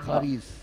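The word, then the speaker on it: ⲭⲁⲣⲓⲥ: Wie wird das Gericht ausgesprochen? Das wird als Kh. Kharis.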